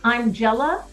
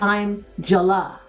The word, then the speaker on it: Amjala: And Nisi, her name, it says I'm Jella, but it's pronounced I'm Jala.